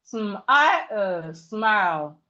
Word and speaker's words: smile: So we have smile, smile, smile. The E here is silent. The E in smile is silent.